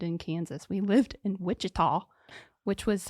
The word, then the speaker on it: Wichita: We lived in Wichita, which was how I knew. Wichita. Yeah, Wichita. In Wichita. It's not Wichita.